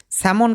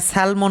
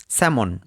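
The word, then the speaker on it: salmon: স্যামন কথার অর্থ হচ্ছে এক টাইপের মাছ। এই মাছটাকে সবাই স্যালমন উচ্চারণ করেন। কিন্তু এটা স্যালমন না স্যামন এক টাইপের মাছ।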